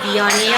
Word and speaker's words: Viognier: And she said, Viognier all day.